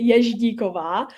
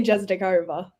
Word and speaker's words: Jezdikova: In Czech, you would say Jezdikova, but I say Jezdikova.